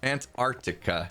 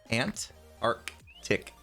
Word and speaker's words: Antarctica: on now oh antarctica antarctica yeah i really i really enunciated the the t's and that was what skis went on about antarctica ant arc tick uh yeah words english